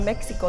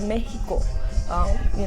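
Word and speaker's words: Méjico: They follow the Christmas tradition from Mexico, and they're not Mexico, they're Mexico. So that's another thing that I learned how to pronounce Mexico the proper way. It was Mexico, and I also learned that it's not even spelled M-E-X-I-C-O, it's M-E-J-I-C-O.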